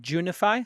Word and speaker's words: Junify: And next up is Junify. And Dustin Shindo is the co-founder? Co-founder. Okay. So, did I pronounce the name of the company right? Junify?